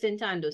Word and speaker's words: sentando: before this word was sentando say it was sentando okay and your stress fell naturally on this piece of the verb because it's the second to last syllable the word ends in a vowel so here is where